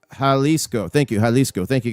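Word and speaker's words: Jalisco: Hlesco is pronounced Haliscoco.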